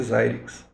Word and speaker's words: Xilinx: Se escreve Xilinx, né? Mas se lê Xilinx.